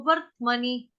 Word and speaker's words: वर्त्मनि: लेकिन आएगा वो कहाँ पे, किसके बाद आएगा, व के बाद बोलना है र के बाद बोलना है त के बाद बोलना है म।